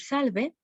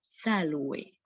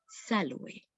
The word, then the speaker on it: salve: Y lo que tenemos es esta palabra que en la versión clásica de la pronunciación se pronunciaría salve, salve. Y así es como nos podemos saludar. Es un tipo de saludo. Podemos decir salve, aue, mm, te saluto,